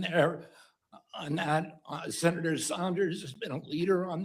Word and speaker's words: Sanders: Right now you should know how to pronounce Bernie Sanders name by now. It's not Bernie Saunders last I checked.